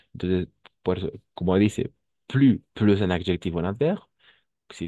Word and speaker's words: plus: Entonces, por eso, como dice, plus un adjetivo, un adverbio, si está seguido de un adjetivo o de un adverbio, vamos a pronunciar plus sin la S. Plus.